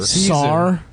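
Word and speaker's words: Tsar: Zar. You think it's pronounced Sar? It's Zar, my man.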